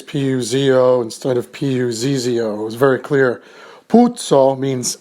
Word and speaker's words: Puzo: to it shall we mario puzo is how most italian-americans say his name p-u-z-o is actually not italian however the name is most probably p-u-zio putso in italy or p-u-s-o puzo in italy the reason most likely